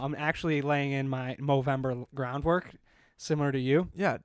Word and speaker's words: Movember: Movember.